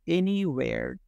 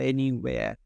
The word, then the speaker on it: anywhere: এটা এই যে ডাব্লিউ, এটার উচ্চারণটা হলো ও। আমরা এমনি যখন ডাব্লিউকে আপনি সাউন্ড হিসেবে ফিল করবেন, দেখবেন এর উচ্চারণটা ও হিসেবেই পাচ্ছেন। দেখুন এখানে কোথাও হ নাই সামিউল, হ মানে হলো এইচ, উচ্চারণটা কোথাও কিন্তু এইচ নেই। এটার উচ্চারণটা হলো এ আ, এটা হলো এ, এটা হলো আ, তার মানে তিনটা মিলে একসাথে হলো ওয়েয়া, ওয়েয়া। তার মানে উচ্চারণটা দাঁড়াচ্ছে এনিওয়ের অথবা এনিওয়েয়ার। আপনি আর উচ্চারণ করতেও পারবেন, বাদে দিতে পারবেন।